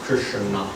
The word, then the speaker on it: Krishna: The name Krishna is divided into two syllables, Krishna.